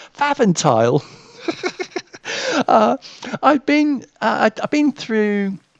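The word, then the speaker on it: Pfaffenthal: um some piper how on earth do you pronounce this it was p f a f f e n t h a l faventile i've been i've been through um holland once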